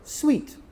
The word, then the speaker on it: suite: No, we pronounce it sweet like the snack. Sweet.